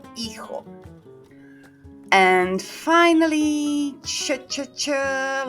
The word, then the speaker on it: hijo: Hijo, a son. Silent H at play in this one. Notice. Hijo.